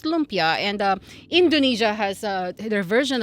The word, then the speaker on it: lumpia: And so, of course, they brought over their cuisine, and lumpia, I think it was spelled in Chinese, Loempia. So, but pronounced lumpia.